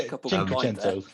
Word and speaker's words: Cinquecento: I can't even pronounce it. Yeah, Cinquecento.